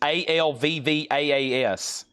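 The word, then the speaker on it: Alvvays: It's called Always, spelt with two V's. Alvvaas.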